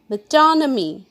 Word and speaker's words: metonymy: us start with it first one is metonymy pronounced with me metonymy it's a thing or concept referred to by